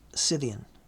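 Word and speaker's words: Scythian: Skidian warriors or pronounced Cyian warriors.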